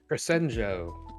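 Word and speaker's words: Crescenzo: Crescenjo.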